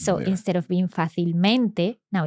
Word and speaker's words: fácilmente: But because fácil has an accent, then the adverb maintains the same pronunciation. Well, not the same pronunciation, but the stress is still on that A, on that first A.